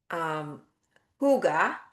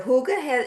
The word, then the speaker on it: Hygge: And the Hygge is, it's spelled Hygge, so it doesn't look at all how you pronounce it, but it is a Scandinavian word meaning hug.